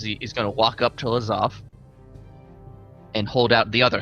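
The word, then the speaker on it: Lazav: Lazov is I'll pronounce.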